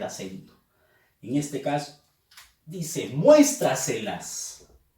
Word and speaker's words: muéstraselas: En este caso dice muéstraselas. Fuerza de voz en mues.